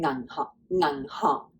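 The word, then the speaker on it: 銀行: Ngang hong.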